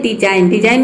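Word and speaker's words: design: देखिए यहां पे है डिजाइन इसमें जी और एन एक साथ आया है तो इसमें जी क्या है साइलेंट है ये है डिजाइन मेंस होता है बनावट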